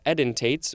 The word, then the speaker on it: edentates: I didn't know if I pronounced that correctly. It could be edentates or something like that. It is edentates.